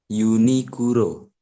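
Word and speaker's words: ユニクロ: Unikuro.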